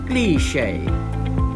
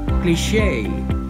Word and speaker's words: cliché: The British pronounce it cliché, cliché. Americans pronounce it cliché, cliché. Number 11, let's talk about a word that I find really confusing with a British English pronunciation.